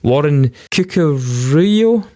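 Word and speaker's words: Warren Cuccurullo: the guy uh called the names are brilliant Warren cuckoo Rio like his name is pronounced um but he joined in guitar he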